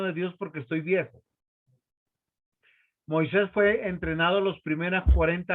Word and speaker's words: Moisés: Y acá se supone que Moisés lleva acento en la I, ¿cierto?